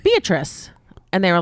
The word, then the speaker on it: Beatrice: I was like, you go get those rabbits, beet rice. Beet rice. It's like, first of all, I get that it's spelled beet rice. Nobody's name is beet rice. Her name is Beatrice.